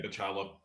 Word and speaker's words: Bachalo: Daniel Salvador, Chris Bachalo, I think is how you pronounce his last name. Yeah, Bachalo.